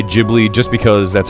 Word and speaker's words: Ghibli: Personally, I say Ghibli just because that's how they pronounce it in Japanese.